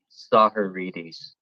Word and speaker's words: Tsahiridis: do you pronounce it it's uh pronounced soccer readies interesting so uh besides